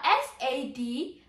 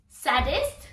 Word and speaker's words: sadist: What about S-A-D-I-S-T? Saddest? No, it's sadist.